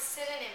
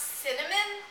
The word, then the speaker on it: synonym: Basically, so, and it's, when I was little, I pronounced it cinnamon, which I mean, you would think, right? But it's actually spelled, here, I'll spell it out for you. It's a little confusing, but it's spelled S-Y-N-O-N-Y-N. So, synonym. It's, yeah, so synonym is how you pronounce it.